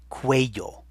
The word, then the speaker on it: cuello: Now your very good English sense is telling you to start that with a Q. Don't. Cuello. And here it is on the screen. So you see that C-U-E is what makes the que sound.